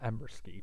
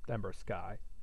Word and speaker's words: Ember Sky: I actually prefer pronouncing that Ember Ski, but I'm sure that it's supposed to be Ember Sky.